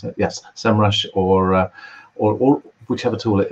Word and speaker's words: SEMrush: comparing visibility and SEMrush, is that how you pronounce it? Yes, SEMrush or or whichever tool it is, basically, with